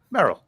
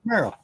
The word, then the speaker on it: Merrill: Merrill. Yeah. Merl.